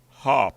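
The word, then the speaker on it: Harpy: over which the Ghana har Eagles as I stole to pronounce it you need to get the hour in it people are think it's Hoy Eagles so you say Hoy Eagles so the guy a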